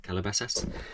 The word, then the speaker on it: Calabasas: from I got a pair of sketches Adidas Calabasas that's how you pronounce it Calabasas and Alfred Sargent shoes without laces these are